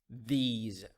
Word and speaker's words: these: The S in these words pronounced as Z sound. Those, these.